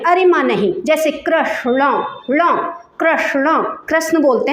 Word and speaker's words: कृष्ण: गहरा स्थान वहां पर अण आजकल ये लुप्त हो गया है अण का जो उच्चारण होता है ये लुप्त हो गया है कृष्ण बोलते हैं न नहीं है उसमें कृष्ण भगवान में न नहीं है कृष्ण है वो कृष्ण हरे कृष्ण हरे